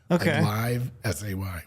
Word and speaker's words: Livesay: Most people say liv. Liv. It's L I V E live s a Y. Right. Live say.